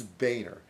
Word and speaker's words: Boehner: It's not Boner, it's Boehner.